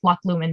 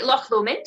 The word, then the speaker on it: Loch Lomond: we've all heard like loch lumen just one of the famous and i probably just killed that pronunciation but what are some of the like the scottish ones that we might know well so obviously loch lomond it's based on a